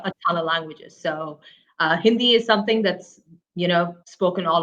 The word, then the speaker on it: Hindi: You speak Mandarin, Hindu, and is it Tamali? Did I say that right? No, you completely butchered the last two.